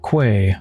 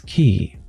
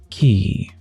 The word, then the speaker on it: quay: thing you've been mispronouncing it's not Quay by the way it's key so repeat after me key you first unlock